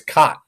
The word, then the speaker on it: Chott: Is it Bill Chott or Chott? I think it's Chott, It's right? Chott. It's neither. It's Chott.